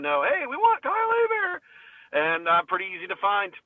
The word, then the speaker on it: Hebert: See, my last name looks like Hebert, but it's actually a Louisiana French thing, Hebert. Hebert.